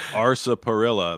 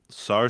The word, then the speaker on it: sarsaparilla: So it looks like sarsaparilla, but sarsaparilla. Just because there's an R in it doesn't mean it's pronounced.